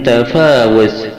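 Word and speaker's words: تفاوت: Yang ke-22, lafaz min tafawuz, surat Al-Mulk ayat 3, wawunya dibaca pendek.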